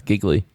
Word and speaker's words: Gigli: It's spelled Gigli. Gigli. That's giggly.